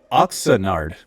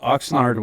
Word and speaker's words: Oxnard: Oxenard. I thought Oxnard was only two syllables, but you made it oxenard.